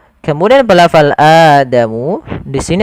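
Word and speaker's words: آدَمُ: pelafal AdaMu di sini ada bacaan mad badal Apa itu mad badal mad badal adalah Mad yang terjadi apabila ada huruf hamzah bertemu dengan huruf mad baik itu fathah Maaf baik itu Alif atau wau atau ya yang mati nah sementara di sini ada Adama Ada fathah bertemu Alif maka ada hamzaah bertemu Alif mad badal eh yang disertai dengan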